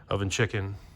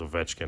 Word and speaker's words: Ovechkin: Oven Chicken, right? It's Ovechkin.